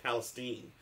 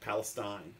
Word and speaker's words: Palestine: They pronounced it East Palestine, not Palestine. I was surprised, but I think actually Palestine is I think it could go either way.